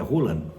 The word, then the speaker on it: Haaland: Dizem que não é Haaland, dizem que a pronúncia certa é Hulan, hã?